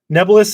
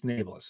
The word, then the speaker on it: Naeblis: that's done that's why they're all saying nubbles niblis nebulous is incorrect it's napless and i will not